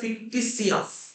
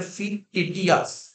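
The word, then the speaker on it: fictitious: ফিকটিটি প্রোনাউন্সিয়েশনটা টিটি না, প্রোনাউন্সিয়েশনটা ফিকটিসিয়াস। আর অনেকে বলে কি বলতো, আমি বলছি মানে বানানের জন্য বলে, অনেকে বলে ফিকটিটিয়াস, কিন্তু প্রোনাউন্সিয়েশনটা হচ্ছে ফিকটিসিয়াস, ঠিক আছে?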